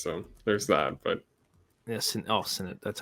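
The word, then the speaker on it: Sennott: But yeah, Sennett. That's how you pronounce the name.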